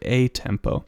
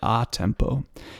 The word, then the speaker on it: a tempo: It says, it looks like a tempo, but you pronounce it a tempo.